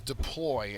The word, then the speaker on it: deploy: Next word is deploy, and you're probably familiar with this word in terms of the phrase like deploy the troops. So deploy, the second syllable has the accent.